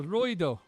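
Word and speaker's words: ロイド: uh Lloyd if I it's probably not pronounced Lloyd in Japan. Let's find out what it is. Uh yeah, Royo. It's not Lloyd. It's a Royo.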